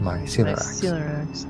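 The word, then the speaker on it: Mycelorax: ERS and heathens okay my C ax is myy c e l o r a x pronounced myel sounds a lot like celiac disease great great F great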